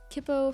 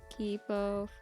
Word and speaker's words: Kipo: old art studio again kippo from kippo and age of the wonder piece i'll write that down oh sorry julie i mispronounced the name of the character because i don't actually watch anything kipo yeah a lot of